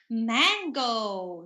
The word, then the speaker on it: mango: next we have mango the a here a short mango so it's not mango it's not a long a okay so sometimes when we want to have a an American accent we overly pronounce some vowel sounds or exaggerate it too much it's not mango it's mango all right okay next is